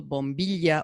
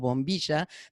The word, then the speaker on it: bombilla: sucking on this that we call bombilla or bombilla, depending on what part of the area you come from, you pronounce it differently.